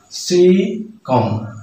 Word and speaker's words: cecum: And here, the stress will be on the first syllable, cecum, cecum.